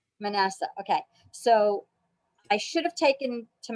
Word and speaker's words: Manasseh: How does she pronounce it, Brad? Manasseh. Manasseh.